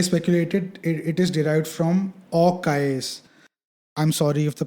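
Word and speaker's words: Aux Cayes: So Orcais is spelled AUXCAYES, but while pronouncing it, it's Orcais.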